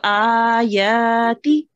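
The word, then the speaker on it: آيَاتِ: Ayati. Okay, which one do you want to make long? And ya. Yes, so and ya you want to make long, and it is pronounced that last one short.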